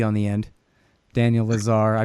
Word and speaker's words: Lazare: but with the e on the end Daniel Lazar I pronounced it right and Mousawi and it'll come